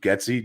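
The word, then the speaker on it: Getsy: some people like it luke getzy jetsey whatever you want to help whatever the hell you want to call him i've heard his name pronounced both ways out of the green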